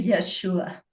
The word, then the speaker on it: Yeshua: and I was speaking to Yeshua and that is how he told me to pronounce his name. So I call him Yeshua and I said I don't understand.